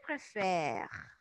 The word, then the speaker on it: préfère: Y no estoy pronunciando la sílaba final. Je préfère.